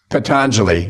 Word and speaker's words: Patanjali: that they're based or described, and I can't pronounce the name of the sutras, his name. What is that? Patanjali.